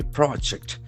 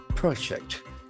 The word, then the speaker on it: project: Pampa Sanidhanam Roadway project, PROJACT. This is a very important word in terms of its lexical feature. If it is a noun, the accent for the first syllable. Project. Project.